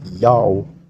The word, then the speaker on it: Ya'oh: followed by a vowel the letter wa is a long o vowel because it's not the first letter of a word therefore it's read as